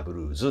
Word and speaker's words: blues: いうことですねで英語で発音するとかブルーズですねということです